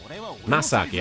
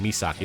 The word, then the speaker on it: Masaki: Is it Misaki? Am I saying it wrong? This isn't the elemental lord to win for nothing. Masaki, I'm sorry. I shouldn't be saying Misaki.